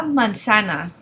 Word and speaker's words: manzana: La manzana. La manzana. Remember, the Z in Spanish is pronounced like the English S. In Spain, the Z here would be pronounced like a TH.